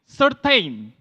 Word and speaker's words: certain: C-E-R-T-A-I-N, certain. You say certain.